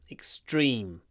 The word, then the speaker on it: extreme: you get the idea extreme remember to uh pronounce a lot of Y extreme extreme y you need lots of Y extreme extreme the next